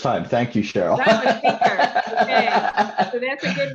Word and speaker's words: Hinker: Hinker, like thinker without the T. You're one of the first people to ever pronounce that correctly the first time. Thank you, Cheryl. That's Hinker.